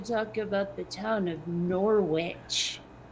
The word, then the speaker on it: Norwich: about the town of Norwich well that's the way it would have been pronounced by a vermonter but I'm pretty sure in Britain it's closer to norch or something I'm just going to